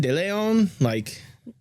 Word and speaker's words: Deleon: Is it Deleon? Deleon. Deleon. Gotcha. Deleon. Gotcha. Deleon. Just go ahead and at least write down the pronunciation right there.